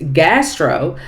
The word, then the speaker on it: Ghastro: York now the name of this restaurant is gastro it's spelled g h a s r o now